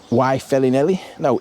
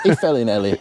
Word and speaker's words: Y Felinheli: This little village is called Y Felinheli—no, no, I’m getting it wrong myself. Y Felinheli… If I’m pronouncing that right. It’s a “V,” isn’t it? That’s why it would be “Velin,” wouldn’t it?